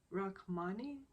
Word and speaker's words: Rachmaninoff: Rachmaninoff, I think is how you say it.